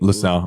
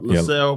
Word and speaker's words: LaSalle: Okay, so what's your goals for LaSalle Productions? Am I pronouncing it right? LaSalle, LaSalle Productions.